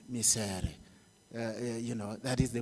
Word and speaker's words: Micere: and I realized that if you pronounce her name in my mother tongue you'll get it right misery you know that is